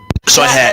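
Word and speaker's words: Shoichet: Wallflower, and then we have how do you pronounce Rebecca's last name? Rebecca Sorche. Soy hat.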